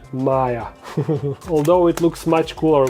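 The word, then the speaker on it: Maja: It says Petko and Maya, although Maya is spelled with a regular I. Let me show you. So M-A... No, I said wrong, it's J, right? J-A, Maya.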